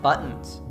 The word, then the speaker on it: buttons: T in the word buttons. The T ends the first syllable and is followed by a vowel, so we cut it at the back of the throat.